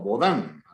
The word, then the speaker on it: Baudin: O Baudin, así se pronuncia este apellido de este extranjero que, bueno, se domicilia